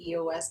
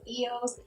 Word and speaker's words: eos: A lot of people mispronounce that and say EOS, but it's really pronounced EOS.